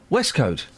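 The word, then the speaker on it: waistcoat: It's pronounced, and I think you'll agree with me, West Coat. West Coat. It's pronounced the West Coat. That's how you pronounce it.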